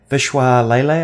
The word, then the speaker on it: Vishwas Lele: One in particular that I thought was really interesting, and actually Scott Hanselman interviewed this guy, Vishwas Lele, I think is the way you pronounce his name.